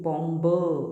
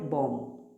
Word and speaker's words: bomb: जैसे कि यहाँ पर है BOMB, बॉम्ब नहीं पढ़ते, we call it बॉम्ब, बॉम्ब, B silent हुआ।